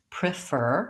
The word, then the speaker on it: prefer: dictionary he's seeing that they're writing it as resume and prefer with the short reduced it vowel and I do think